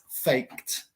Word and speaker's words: faked: So no se pronuncia faked, se pronuncia faked. Porque es K-E-D. No es de ni es te. It's not a D and it's not a T. So we pronounce it faked.